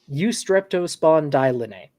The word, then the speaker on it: Eustreptospondylinae: The second group are the Eustreptospondylinae. How many syllables is that? Say that again. 7 syllables. Too many. Eustreptospondylinae.